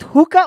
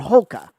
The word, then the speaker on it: Hoka: Elvia wears Hoka dude is it hookah or hulka because it's h-o-k-a but you pronounce it as hookah it's probably it's probably